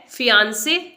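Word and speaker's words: fiancé: asthma यह word है फियांसे अगर आप भी मंगेतर को इंग्लिश में फियांसे बोलते हैं तो यह रॉन्ग प्रोनंसिएशन है इसकी जो करेक्ट प्रोनंसिएशन है वो है फियांसे फियों से नॉट फियांसे फियांसे यह वर्ड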